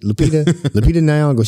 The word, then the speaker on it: Lupita Nyong'o: Lupita Nyong'o.